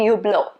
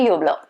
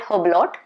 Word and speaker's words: Hublot: them but i don't think they have the sound ooh so it's supposed to be you blow okay you hello okay don't give it a dislike because of this okay it's supposed to be hublot simple don't call it hoblot that's that's the entire